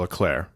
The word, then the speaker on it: Leclerc: He's from Monaco, and his name is Charles Leclerc with a C at the end. And that's just how you say it. He's he's from Monaco. It's a French-ish pronunciation.